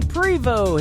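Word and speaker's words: Prevost: artist he is cody privo his last name is p-r-e-v-o-s-t the t is silent mr cody prevo and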